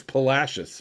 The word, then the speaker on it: Palacios: And it's Palacios, by the way, not Palacios.